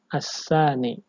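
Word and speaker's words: الثاني: Jadi kita bacanya as-sani ya, pakai sin kecil.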